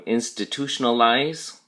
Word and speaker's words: institutionalize: We call them institutionalize. Institutionalize. And notice the emphasis or stress on the last syllable.